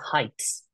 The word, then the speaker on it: heights: and has nothing not height is like that that's not how you pronounce the word heights this is heights it's a very sharp eye not not a dragged out one she has already scaled the heights heights heist.